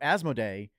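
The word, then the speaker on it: Asmodee: company as asmo day I actually I had to look up how to pronounce it because it turns out I've been pronouncing it wrong my entire life uh so asmo day uh I I reported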